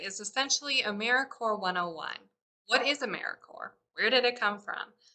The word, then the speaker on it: AmeriCorps: way americorps is pronounced americorps not corpse we are alive and well like the core of the earth or the marine corps the sea is always